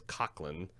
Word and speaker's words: Coughlin: pronounce his name is Kok 'ln yeah it's an Irish brogue like ting Smita Giggs